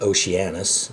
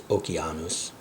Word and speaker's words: Oceanus: you would pronounce that oceanus but C is always hard like K. So it's okanus and the G is not soft as in German but hard as in gmanicus.